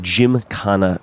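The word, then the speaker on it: Gymkhana: Fame through his wildly successful viral series of Jim kanana videos that's spelled g ym KH h n a these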